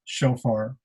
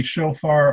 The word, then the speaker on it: shofar: is a very special shofar and again the pronunciation can be shofar or shofar um uh depending upon